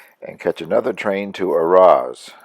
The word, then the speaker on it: Arras: catch another train to Arras ar-ar-ar Ras I don't pronounce the S on the end I guess where I could